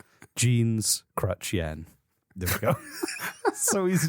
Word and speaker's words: Jean Chrétien: name again jean chen i'm thinking of crutch and then the currency yen that's all remember sure john crutchien not quite there we go but a lot better than how it started visually i've got to visualize it john john jeans crutch crutch the currency yen yen jeans crutch yen there we go so